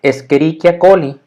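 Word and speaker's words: Escherichia coli: fonética ya latina sería escherichia colli y entonces que aplicamos de esa regla de la c y la h que sería como una k entonces escherichia colli sería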